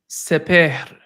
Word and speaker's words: Sepehr: It's it's spelled Sepehr. Seper? Sepehr. Seper. There you go, man. You got that R going.